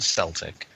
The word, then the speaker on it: Celtic: And it's Celtic, Michael, not Celtic. Celtic's a football team in Scotland. Okay, my bad. Us dumb Americans. Celtic. Okay. Looks like it's a C, but it sounds like a K.